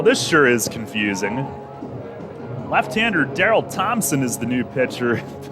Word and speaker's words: Daryl: Okay, Daryl Thompson, not Darrell.